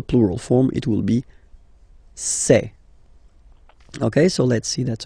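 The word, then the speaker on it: ces: and for the plural say say really open this e say Okay so let's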